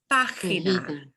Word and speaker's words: página: Here's a word that means page, but it is pronounced página. Página. And that accent letter or the accent mark over the A of the pa means we punch that syllable harder than the other three.